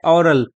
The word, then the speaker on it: aural: एक और लफ्ज यूज होता है AURAL, उसका भी प्रोनाउंसिएशन सेम है, ओरल।